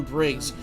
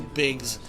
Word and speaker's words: Biggs: even I'm like I've always called him Briggs. I meant to say his name is Biggs.